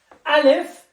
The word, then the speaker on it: ألف: So, alif, a. So, I will say the name, and then I will say the pronunciation.